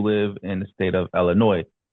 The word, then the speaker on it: Illinois: in the state of Illinois. The S is supposed to be silent, but then the people who don't live there, they pronounce it Illinois.